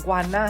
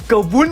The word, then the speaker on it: G'vunna: จาก ให้ ก่อน นะ พี่ จะ ออก เสียง ควัน หน้า ให้ มัน ง่าย นะ แต่ ว่า ถ้า native ลิกเกอร์ พูด จริง ๆ จะ เรียก ว่า กลุ่ม วุ้น ล่ะ ถ้า ตอน นี้